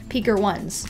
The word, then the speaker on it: Picarones: So in English, it's spelled the same, but you say it Picker ones.